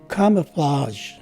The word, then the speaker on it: camouflage: top of it and the letters g and e take a combined z and h sound so this word is pronounced as camouflage this is a tenth